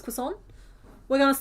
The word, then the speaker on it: croissant: In our hearts, we're all pronouncing it. Quason. That's fine. We know. We know that it's croissant. We know it's croissant.